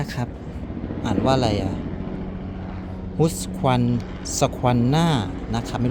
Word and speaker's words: Husqvarna: ยี่ห้อ นี้ นะ ครับ อ่าน ว่า อะไร อ่ะ ฮุ คัน squ หน่า นะ ครับ ไม่ รู้ ออก เสียง ถูก มย